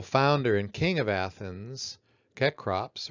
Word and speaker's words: Cecrops: The mythical founder and king of Athens, Cecrops, or sometimes his name is pronounced Cycrops, has instituted marriage between one man and one woman.